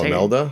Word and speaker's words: Imelda: And then Imelda Staunton. I don't know. Oh, Imelda?